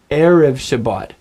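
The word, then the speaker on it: ערב שבת: Can you hear how the accent is on the first syllable? Erev Shabbat. So I want you to just practice that a couple times. Say erev Shabbat, erev Shabbat.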